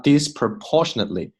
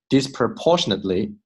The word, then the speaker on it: disproportionately: children from low-income families are disproportionately 不成比例的，重音在这里，OK？ disproportionately 不要读成了 disproportionately 这是错的 disproportionately impacted 不要读成 impacted，OK？impacted by